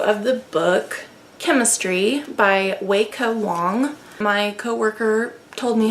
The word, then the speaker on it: Weike Wang: It is not Weike Wang, as I've heard most people pronounce it. It's Weike Wang.